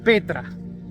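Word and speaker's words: πέτρα: piedra es igual, es la 4073 que se pronuncia Petra, que es roca grande.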